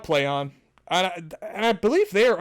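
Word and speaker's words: Plaion: a i o n which i would say play e on but they say no it's play on is how it's pronounced sure yeah whatever um that's just cor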